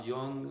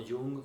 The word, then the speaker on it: Jung: que diga Freud, de Carl Jung o Jung, como le llaman algunos, depende de la pronunciación del país, lo dicen de una u otra forma, del mismo Rogers.